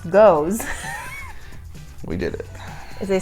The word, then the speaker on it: Geuze: What you just called a Geuze, pronounced Geuze, We did it.